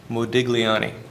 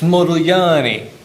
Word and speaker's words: Modigliani: And I pronounced this guy's name Modiglani. And he says, "No." He says, "It's Modilani." I said, "Modal Yani?" He said, "No, no, no. Modal Yanni."